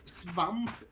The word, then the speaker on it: svamp: Swamp is pronounced svamp in Swedish, and that means mushroom.